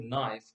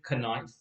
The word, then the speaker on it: knife: k but in fact when you pronounce the word you won't pronounce the k so the k is like a silent letter we will call it